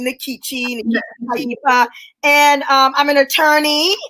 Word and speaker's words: Nkechi: about yourself yes okay so i pronounced my name nikki and um i'm an